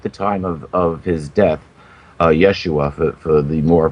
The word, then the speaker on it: Yeshua: to happen at the time of his death, Yeshua, for the more correct Hebrew pronunciation, the curtain between the holy and the most holy in the temple was torn in two.